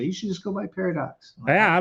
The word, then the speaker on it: Parradax: So, but and by the way, just so you know, the first name is pronounced and then the last name is Para. So Parradax is how that was my Parradax.